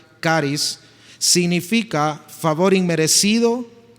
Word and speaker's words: charis: La palabra gracia viene del griego en su escritura natural es charis pero se pronuncia caris, significa favor inmerecido y note esta segunda definición encanto o belleza, asimismo gratitud.